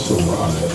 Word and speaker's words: Sarai: It's spelled like Sarah, but it's Sarai. S-A-R-A-I.